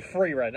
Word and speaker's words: Frieren: so okay so the the name is actually freerun okay okay I have been mispronouncing it this entire time I apologize the triumphant